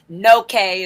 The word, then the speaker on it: No Okay: No K is how it's said, but I say that's no K.